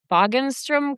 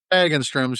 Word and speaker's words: Hagenstrom's: The Pronounce that name, Bogenstrom Company? Hagenstrom's.